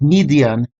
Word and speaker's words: Midian: The Hebrew text for Midian is Mem Dalet Yod Nun and is currently pronounced as Midian with the Yod used as consonant.